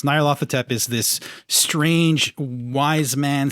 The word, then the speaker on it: Nyarlathotep: I've heard different pronunciations. Nyarlathotep is this strange wise man, scientist, Tesla /